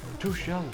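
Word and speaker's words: Tuchel: a squirrel there's a manager too shell that's how you say it he is only at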